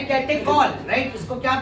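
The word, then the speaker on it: catechol: तो कैटेकॉल बोलना, चॉल मत बोलना, ये तो मैंने बस बताया।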